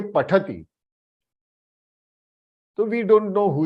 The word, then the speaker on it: पठति: Hey, don't say pathadi, pathadi. Many of them I have seen, South Indians. Why do you all pronounce pathadi, pathadi? It is not D, it is T. Pathati, pathati.